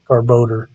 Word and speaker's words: Garbodor: Garbodor is how it should be pronounced. Garbage odor.